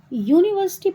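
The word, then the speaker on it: university: लेकिन इसका आप साउंड देखोगे तो यूनिवर्सिटी बोलने में आता है यू। है ना? उ नहीं आता।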